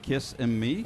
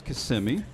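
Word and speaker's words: Kissimmee: Central Florida please realize it is not kiss and me it is KMI so we're both locals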